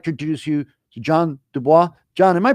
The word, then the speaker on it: DuBois: Ado I'd like to introduce you to John DUIs John am I pronouncing your last name correctly I was yeah